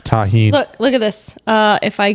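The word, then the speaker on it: Tajín: like tajin or some shit. I don't know what it was Tajin. called. It was. How you say it? Tahine. Tajin. I That's thought it was tajin.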